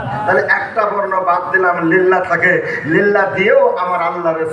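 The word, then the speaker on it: لله: এবার এই বর্ণ এই শব্দটার উচ্চারণ হবে লিল্লাহ। কি? লিল্লাহ। আবার সবাই বলেন লিল্লাহ। হ্যাঁ, লিল্লাহ। লিল্লাহ, নাম দিয়ে নিল্লা না, কিন্তু লিল্লাহ।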